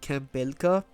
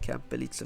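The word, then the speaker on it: Camp Belica: I I used to think it was called Campela. But in the most recent, while capturing footage for this uh video, I found out that Anna pronounces it Camp Bellix.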